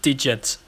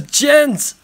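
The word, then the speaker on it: djent: way the gents alright it's not pronounced digits haha it's Jens oh my bad haha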